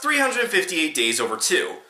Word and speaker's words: 358/2 Days: isn't really that bad it's pronounced 358 days over - which makes sense seeing as how the game's story takes place over the course of 358 days and sent us around